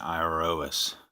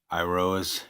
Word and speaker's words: Iroas: your ass me and iro us I believe is how you say his name I rose he is God of